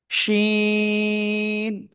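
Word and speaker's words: شين: হুম, জিহ্বার মাঝখান উপরে তালুর সাথে লাগাবো, শা শা শব্দ করব আমরা। শিন, তিন আলিফ টান, শিন। সবাই একসাথে জোরে জোরে বলেন। মাশাআল্লাহ মাশাআল্লাহ। ওকে, আমরা এটা ক্লিয়ার। এই শিন অক্ষরটা শব্দের শুরুতে যখন আসবে তখন কেমন আসবে?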